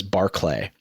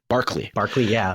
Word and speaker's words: Barclay: It's always very important to me that I pronounce people's names correctly because my last name is Barclay, and everybody wants to call me Barkley.